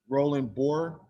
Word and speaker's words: Roland Boer: Am I pronouncing that name right, Chief Roberts? Roland Boer? That is correct, you are.